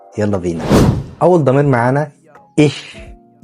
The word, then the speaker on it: ich: إيش بتنطقها شين خفيفة كده، بس خلينا متفقين إن أنت بعد كده مع سرعة الكلام هتلاقي نفسك بتنطقها إيش عادي، لأن أنت مش كل ما تيجي تنطق الإيش تفكر بقى تنطقها شين خفيفة أو شين تقيلة، فهتلاقي الدنيا الموضوع أبسط